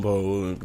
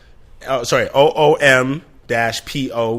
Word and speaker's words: Mpho: OOM-PO would be like the phonetic way of kind of spelling my first name, right?